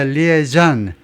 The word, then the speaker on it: liaison: DHS요, 국토안보부에 합류했는데, as a liaison, 불어로요, 연락관입니다. 연락관. 군에서는 liaison officer, 연락장교. liaison, 그래서 불어식으로 발음하면 liaison이에요.